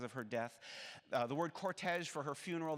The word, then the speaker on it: cortege: The word cortege for her funeral, that's one of those words that is spelled in the French manner, but it's also pronounced in the French manner.